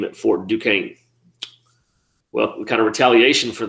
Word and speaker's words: Duquesne: call it fort duquesne that's not for just questioning it's called it's pronounced duquesne i guess you were